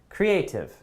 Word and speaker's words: creative: I think the stress is in the second syllable. Management, management, management, manage, right? Management. Okay, let's go with the next term though, guys. Creative, creative.